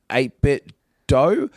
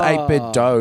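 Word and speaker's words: 8BitDo: Oh, there's that company called 8-Bit Dough. I think it's pronounced 8-Bit Dough, even though it's just Do, so it should be Do.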